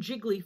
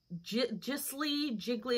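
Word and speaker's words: giclée: Some photos, they call them, I want to say they call them jiggly photos. It's like jiggly. It's spelled like G-I-C-L-E-E, something like that.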